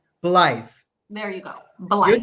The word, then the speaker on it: Blythe: But I can't pronounce the name. Blythe.